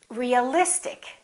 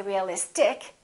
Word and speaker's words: realistic: In this case, we don't stress the suffix, but we stress the syllable immediately before the suffix. Realistic. We don't say realistic. We don't say realistic. We say realistic.